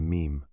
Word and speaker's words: meme: I hope my classist friends will forgive me if I abbreviate mime to meme. It should be pronounced to rhyme with cream.